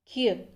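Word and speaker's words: 기역: कियक कियक इसका नाम है और इसका उच्चारण होगा क। क यानी कि क और ग के बीच का। क इसका उच्चारण नहीं होता है, इसका उच्चारण होता है क।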